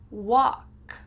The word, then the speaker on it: walk: And the second word, walk, your mouth is more open for. Walk. And the L is silent.